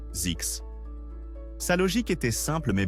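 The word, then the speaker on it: Zzyzx: Donc, il a concocté le nom Zisks, prononcé Z. Yes, Zix.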